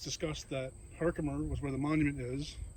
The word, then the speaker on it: Herkimer: Pronounced Herkimer in today's vernacular, but it was Herkheimer.